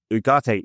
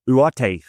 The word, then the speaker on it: Ugarte: We're going to talk about Manuel Ugarte, or Ugarte, I think it is more correctly pronounced.